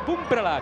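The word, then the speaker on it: Pumprla: Bueno, viamos a Pumprala, que así é como se pronuncia, xa en acción, novidade.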